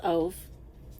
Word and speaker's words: Ove: I don't know how you pronounce this name, but you might say of, but I would say that this is a long O sound.